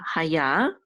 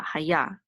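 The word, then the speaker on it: הָיָה: And the accent is on the last syllable. This is the accent, the trope mark right here. So it's on ya, haya.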